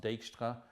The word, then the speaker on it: Dijkstra: I think that's a Dutch name, so it's probably pronounced Dijkstra.